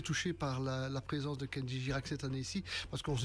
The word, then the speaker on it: Kenji Girac: et cette année-ci c'est Kenji Girac. Je ne sais pas si je le prononce bien, parce Oui, que absolument, de dire Kenji Chirac. Girac. Non, Kenji Girac. Kenji Girac.